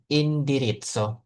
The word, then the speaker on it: indirizzo: ya kuale ilsuo indiritso bacanya indiritso kayak pizza saya ada ee Z double begitu maka dibacanya jadi ts ya indirits gimana alamatmu Jalan Garibaldi nomor 16 oke baik ini kita masukkan Nah, oke.